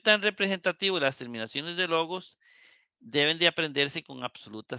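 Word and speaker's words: λόγος: Nótese que el acento de logos permanece en todas las formas sobre la misma sílaba.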